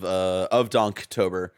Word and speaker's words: Donktober: Pacific time, for the first 4 Saturdays of Donktober. Hard K in that donk. Hard K, not a soft G.